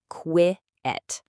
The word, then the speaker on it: quiet: The real key to remembering this word is right there in the pronunciation. Go ahead and say it out loud with me. Qui-et. You feel that? There are two separate parts. Two syllables.